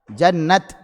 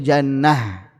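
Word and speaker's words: جنت: Ada yang membacanya dengan ta, ada yang membacanya dengan ha. Yang membaca dengan ta, al-waqfu ala rasmil mushaf, yaitu wakaf dengan melihat rasm mushafnya. Tulisannya apa? Ta maftuhah, ya sudah ta. Jannat. Sedangkan imam yang lainnya, qiraat yang lainnya, wakafnya dengan huruf ha. Walaupun tulisannya ta, tapi tahu ini mufrad, makanya bacanya jannah.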